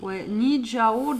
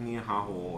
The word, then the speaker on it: Nihao: Alors j'ai du mal à le prononcer, hein, je suis désolée, mais c'est Nijao Jewelry, bijoux Nijao. C'est fort comment ça s'écrit? Qu'est-ce qu'on dit? Ah bah voilà. Ouais, carrément sur le terme. Nihao, ouais.